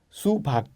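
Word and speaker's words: 수박: Si no hubiera tenido la G como aquí abajo, la pronunciación sería sua, pero con la pronunciación es su sin embargo, no puedes pronunciar su hay que ser corto sub. Subac, ¿vale? Subac que significa sandía.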